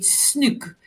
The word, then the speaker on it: snoek: So here in South Africa, in Cape Town, you get snoek. That's the right pronunciation, but I don't know what is the fish called, but it's very stinking.